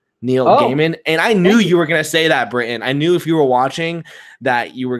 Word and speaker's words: Gaiman: Britton wants to let you know it's pronounced Gaiman. Neil Gaiman.